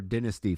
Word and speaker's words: Dynasty: AEW Dynasty or Dynasty for those of our listeners in the UK. That's how they say it.